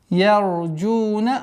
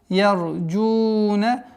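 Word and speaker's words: يَرْجُونَ: Ярджуна. Ра твердая у нас. Ярджуна.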